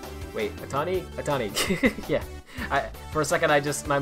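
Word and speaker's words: Ohtani: Yeah, Tomio Atane. Wait, Atani? Atani.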